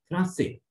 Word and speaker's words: français: It sounds like S instead of K. Example, français, French.